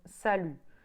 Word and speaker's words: salut: know pronunciation wise, is salut. It spells S-A-L-U-T, but the T does not get pronounced.